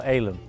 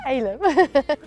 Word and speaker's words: Eylem: Actually, is it Eylem or Eylem? It's Eylem. It's spelled with an E, but it's pronounced with an A.